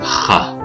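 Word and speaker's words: خاء: So in English it is pronounced like KH, and it is pronounced as in the Arabic name Khalid.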